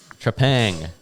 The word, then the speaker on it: Trepang: Trepang. Tree. Okay. Pang.